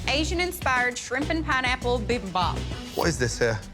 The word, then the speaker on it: bibimbap: i made an asian inspired shrimp and pineapple bibimbap what is this here it's an asian ridiculous